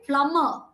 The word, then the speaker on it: plumber: can see that oh I have highlighted all the sounds all the letters that are silent okay subtle Rendezvous debris debut Memoir okay plumber almond all the ones in marked in red are all silent cool okay right now